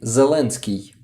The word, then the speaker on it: Zelensky: it wasn't me says I wonder about Ukrainian pronunciation if I'm correct the spelling is zelensky no no we say zelenski zelensky so it's not s in the beginning